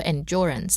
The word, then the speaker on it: endurance: I think there's two types of pronunciation. 2 ways to pronounce the word, I think. Which one? Endurance yes. and endurance. Endurance. Some people give it more of a J kind of sound. I think it's the British.